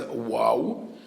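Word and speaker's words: וו: So what is the vav is wow to differentiate between this and the vet and where do we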